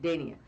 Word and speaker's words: Dania: Dania.